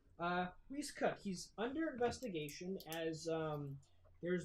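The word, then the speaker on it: Rhys Cooke: His name is spelled Rhys, Cooke. Don't need to know the spelling, but if you'd like to have it, Reese Cook.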